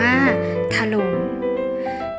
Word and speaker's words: ถล่ม: เสนอ คำ ว่า ถล่ม ถล่ม สะกด ท่อ อัตถะ หอ รอ อก ม. ร่ม ไม้ เอก หลุม อ่าน ว่า ถล่ม ถล่ม เป็น คำ กริยา หมาย